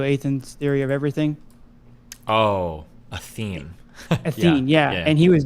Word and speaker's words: Athene: I think his name's Athan. How do you say Athan? You know, the guy that made the video Athan's Theory of Everything. Oh, Athene.